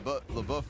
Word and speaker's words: LaBeouf: In French, you gotta nail it. Shia LaBeouf. You know, you're adding syllables.